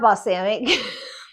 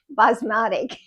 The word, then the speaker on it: Basmati: um rice and quinoa no not busanic basmatic Basmati see I told you I'm